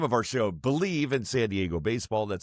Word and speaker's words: Bleav: Again, the name of our show, Believe in San Diego Baseball. That's spelled BLEAV.